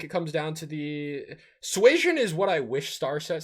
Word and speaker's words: Suasion: To correct Jacob, it's Did I say it right? It's Suasion. Suasion.